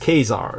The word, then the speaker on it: Caesar: slaved Caesar the and Caesar was originally pronounced kesar in the Latin so Kaiser and Kazar